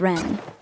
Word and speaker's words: Wren: It's Ren.